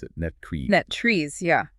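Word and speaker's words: NTREIS: NetTrees, yeah. It ends with that tress sound, like the word rest.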